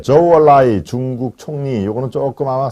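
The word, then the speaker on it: 周恩来: 네, 조얼라이 중국 총리, 요거는 조금 아마 생소하죠. 여러분 주을레라고 하면은 아마 쉽게 아실 겁니다. 주을레가 조얼라이구나. 예, 주은레를 중국식 발음대로 하면은 조언라이 이렇게 됩니다.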